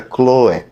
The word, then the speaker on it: Chloe: há divisões entre vocês algumas traduções português colocam acento no e fica cloe de modo que não sabendo a pronúncia corre tanto faz se você diz exclui ou Chloe ao que tudo indica